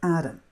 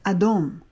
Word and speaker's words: Adam: And red has a lot to do with the name of Adam. In fact, the color red actually comes from the name of Adam, but it's pronounced as Adom. And that's how you get red.